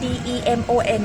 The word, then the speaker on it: demon: คำ นี้ นะ คะ d e m o n นะ คะ อ่าน ว่า demon นะ คะ อ่า ตัว อีเ เนี่ย จะ ออก เสียง เป็น สระ อี นะ คะ demon นะ